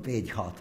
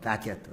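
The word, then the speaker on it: Bagehot: But it's, you know, the English always pronounce, write one way or pronounce it differently. What I use in Calcutta thought of is called Bejhot, but I now gather it's called Badgett or something like that.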